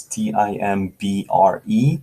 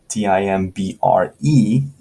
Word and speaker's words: timbre: like timber but it's t-i-m-b-r-e not t-i-m-b-e-r timber b-e-r is wood right it's a piece of tree t-i-m-b-r-e is pronounced timbre almost like t-a-m right timbre timbre is